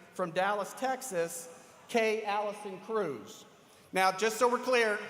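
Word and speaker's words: Crews: We are also very fortunate today to have with us a professional registered parliamentarian from Dallas, Texas, Kay Allison Cruz. Now, just so we're clear, Cruz is spelled C-R-E-W-S, so there's no relation to the senator from Texas.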